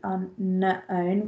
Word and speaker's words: unknown: So, if I could spell unknown correctly, unknown, remember it's got a silent K in there.